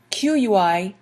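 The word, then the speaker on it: qui est-ce: The question qui est is spelled Q-U-I-E-S-T-C-E. All of that boils down to qui est.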